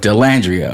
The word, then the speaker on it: Dallandria: Dallandria.